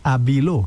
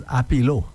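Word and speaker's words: Abilow: So it's Abilo. Yeah. I thought it was Apilo. Okay, so it's Abilo. Yeah, spell it only A-B-I-L-O-W.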